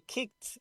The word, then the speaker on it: kicked: not vibrate okay and the Ed is pronounced with a t sound C is minus V